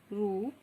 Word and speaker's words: रूप: आप देखते होंगे रुपया और रूप दोनों में जो है उच्चारण अलग हो जाता है। रुपया बहुत जल्दी हम बोल के रुक जाते हैं और जब हम रूप बोलते हैं तो यहाँ क्या है, स्वर आप थोड़ा सा इसको बढ़ाते हैं, यानी कि आप स्वर को खींच सकते हैं।